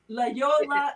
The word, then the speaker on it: La Jolla: La Yola. It's Jolla. Yeah. But it's La pronounced Jolla.